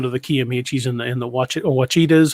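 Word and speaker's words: Ouachita: But I would also like to go down to the Kiamichis and the Wachitas. How is it pronounced?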